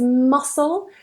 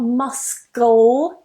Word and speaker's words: muscle: bead in those words the next one is muscle so whenever we have this combination of s and C that C is silent muscle so not must go or anything like that remove that C remove the cut muscle muscle some examples